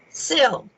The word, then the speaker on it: Cyll: mike and pat and how do you say your last name is a chill sil sil okay mike and pat